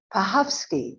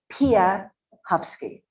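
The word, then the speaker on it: Piechowski: talked to him and asked him how to pronounce his name he said pahovsky or at least that's what I thought I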